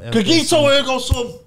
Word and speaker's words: cogito ergo sum: Cogito ergo sum.